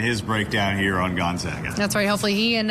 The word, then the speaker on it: Gonzaga: basketball plus y is Gonzaga so hard to pronounce what's not disputed is Olga it's never guns Olga special lesson from our